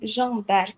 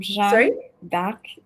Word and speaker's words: Jeanne d'Arc: so hi everyone um Jean dark it's the French name I'm Jean dark Jan Jan D Jan it's a French name d oh Jan Jan I don't know if I pronounce but the easiest way you you can just use Jane that's the easiest way J because it has an English version just your J as in short okay so okay so